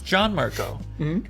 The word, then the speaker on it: Gianmarco: And then I mean Italian, they go, "No, it's John Marco."